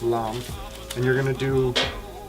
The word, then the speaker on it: lame: It's spelled lame, but it's pronounced lamb.